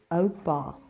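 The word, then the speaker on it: oupa: family you've got your O Bar and for how I told you o means old try and pronounce it like me Oak Bar furthermore you've got your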